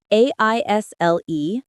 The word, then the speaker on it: aisle: I always hear aisle in movies, but I never knew how to say it correctly. Yes, it's a tricky one. We write A-I-S-L-E, but the S is silent. It sounds like aisle.